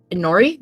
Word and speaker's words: Inori: She asks, Inori? Is that how you pronounce the name? Yes.